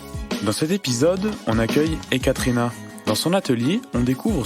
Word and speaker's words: Ekaterina: Bonjour Ekaterina. Bonjour. C'est bien comme ça qu'on prononce ? Si, très bien Ekaterina.